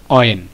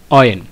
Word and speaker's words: when: উচ্চারণ করি হয়েন তো আসলে শব্দটার উচ্চারণটা কিন্তু হ দিয়ে না শব্দটার উচ্চারণটা হবে অ স্বর দিয়ে স্বর স্বর দিয়ে তো এটার উচ্চারণটা হচ্ছে অয়েন হয়েন নয় অয়েন এখন আমরা জানবো এই